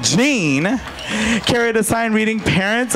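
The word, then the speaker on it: Jeanne: and morty gian jim jenny jean oh i've been saying it wrong gene carried a sign reading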